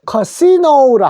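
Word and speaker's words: casino: 그래서 카지노라고 하는데 요 카지노는 영어로는 요 커시노라 합니다. 카는 똑같습니다. 키읔은 똑같은데 A가 시 그대로 읽어 주십시오. 커시 니은에다가 요 오자가 오우로 읽어요.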